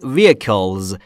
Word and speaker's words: vehicle: Road vehicles. Vehicle یعنی وسیله نقلیه. Vehicles حالت جمعشه. بچه ها دقت کنید. H در vehicles ناخاناست. یعنی نباید تلفظش کنید. یعنی vehicle نیست. Vehicle. Vehicle یعنی وسیله نقلیه یا وسیله.